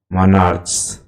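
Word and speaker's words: monarch: जैसे stomach, stomach तो stomach में अंतिम उच्चारण क्या है? ch का क, इसलिए यहाँ es नहीं s होगा, स्टोमक्स। मनार्च, मनार्च।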